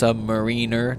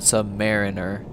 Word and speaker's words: submariner: And it's apparently it's pronounced submariner, not submariner, because I guess they hate it.